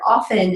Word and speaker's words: often: play on the word often an orphan orphan right so for those of us who don't pronounce the T I mean it might